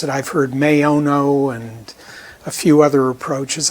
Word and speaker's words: Maono: I've heard MAONO and a few other approaches. I take the Latin language approach, short A, long O, MAONO.